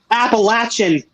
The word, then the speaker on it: Appalachian: Appalachian.